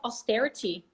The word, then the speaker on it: austerity: and so on Russians have faced years of austerity after communism's fault if it's too hard we'll